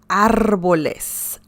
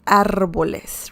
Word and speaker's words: árboles: And if you want to refer to more than one tree, then you can say los árboles. Árboles. Remember the R sound in Spanish? Árboles.